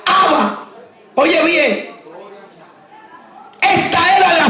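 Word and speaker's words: Abba: santificado sea tu nombre la palabra padre es una palabra árabe que se pronuncia haba oye bien esta era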